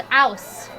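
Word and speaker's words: Aass: a-a-s-s a-a-s-s sure but it's pronounced house and so here we are with the house as you can see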